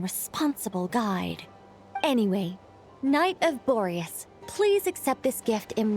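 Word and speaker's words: Boreas: Anyway, Knight of Borius, please accept this gift in recognition of your great virtue. Thank you for pronouncing Borius correctly, not like Parker.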